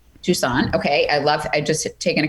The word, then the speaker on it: Toussaint: Toussaint.